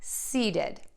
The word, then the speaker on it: seeded: So you get to think about saying those words see and then ending with did. Seeded, seated, seeded.